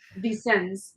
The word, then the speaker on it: Vicens: And is it Vicens? I'm going to say it wrong. It's Vicens.